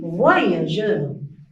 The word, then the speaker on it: voyageur: Ici, la lettre G, on le prononce, ou bien on la prononce ici, G. Pourquoi? Parce que il est écrit à côté de E.